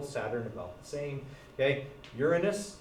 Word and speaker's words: Uranus: about the same okay uranus by the way that's how you pronounce it uranus is something else just so you know because lots of people pronounce that wrong okay um and then